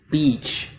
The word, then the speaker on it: beach: So the mistake that I often hear is that students will use the E like she vowel instead of the I like sit.